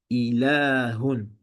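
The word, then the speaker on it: إله: Ensuite, on a le mot Dieu, divinité, ilahun. Donc ici, il y a une prolongation. Donc il y a une prolongation qu'on n'écrit pas, mais qu'on doit prononcer.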